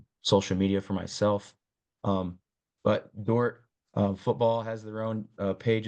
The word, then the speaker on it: Dordt: It's spelled DORDT though, which is important. Some people miss the D.